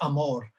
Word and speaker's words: Amor: name pronounce her name well in a south african way you would say amor um and while i'm